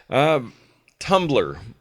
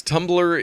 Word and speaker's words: Tumblr: we have to say it's spelled t um BL are yes there's no other vowel in there and this was originally